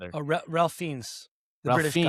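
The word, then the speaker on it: Fiennes: Ralph Fannis or Fains, one or the other. Oh, Ralph Fiends the British, right?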